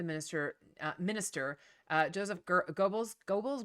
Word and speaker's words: Goebbels: uh minister uh joseph goebbels goggles goebbels i've heard pronounced like with an r sort of in it too but um he used